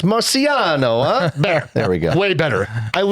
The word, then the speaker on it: Marciano: Marciano uh emails in with this one.